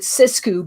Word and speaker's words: Sixku: The Sixku is spelled Sixku, and I pronounce it Sixku because I'm French and I have poetic license here.